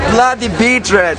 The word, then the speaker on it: Bloody Beetroots: The Bloody Beat Tommy ditemi la pronuncia giusta The Bloody beatr i nostri amici dicono sempre Blood beatr nasce dalla noia la